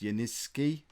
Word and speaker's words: Yanicki: I'm told it's pronounced Yaniski. I'm never going to remember to say it that way, so he's just going to be Yanicki forever.